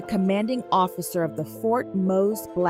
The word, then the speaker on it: Mose: History knows it as Fort Mose. Pronounced Mose.